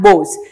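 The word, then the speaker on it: Boz: his younger brother the nickname was really Moses and since Moses is like a nasal pronunciation it normally turned to both and that is from where he to be named Bose so Bose is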